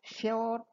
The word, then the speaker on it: sure: The traditional British pronunciation of sure was always rhyming with pure.